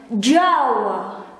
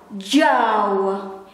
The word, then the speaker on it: Jawa: It pronounced as Jawa, Jawa, Jawa, Jawa.